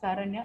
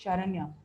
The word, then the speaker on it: Sharanya: My name is Sharanya. SHA, Sharanya. Virtually, I'm addressing few people now for my sessions and other stuffs, where people say my name as Saranya. It's not Saranya, it's Sharanya. So these are all the mispronunciation.